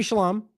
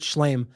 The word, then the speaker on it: Shlaim: This is Avi Shalom. I think I've heard it pronounced both. I think Shlaim.